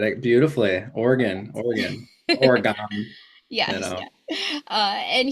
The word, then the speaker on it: Oregon: I said it right yes said it beautifully Oregon Oregon Oregon yes uh and he is the